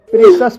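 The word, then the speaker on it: precious: जैसे प्रेशस, प्रेशस शब्द में CIOUS आया है और यहाँ पर CIOUS का उच्चारण सस हुआ है, इसलिए इसे प्रेशस पढ़ा जाता है।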